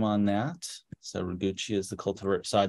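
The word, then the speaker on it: Roguchi: have been a question about a Columbine hugee raguchi is the cult of our name on that so raguchi is the cultivate so I just uh uh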